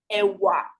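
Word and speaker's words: ẹ̀wà: You can see that the tones that I use to pronounce that word, even if it's one word, but there's a ewa, ewa, ewa. I'm not saying ewa or ewa, domi, ewa. I'm saying ewa, do, ewa, because that particular sound on that letter means something.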